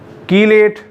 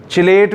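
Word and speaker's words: chelate: फिर प्रोनाउंसिएशन में very, कीलेट, कुछ चिलेट भी बोलते, कुछ छलेट बोलते।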